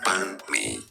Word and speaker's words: banh mi: Banh mi.